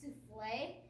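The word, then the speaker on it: soufflé: would we eat that it's pronounced souffle and it's a beautiful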